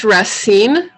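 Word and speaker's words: Racine: um i'm i'll say it and then i'll spell it her first name is rasine r-a-c-i-n-e and her last name is ox to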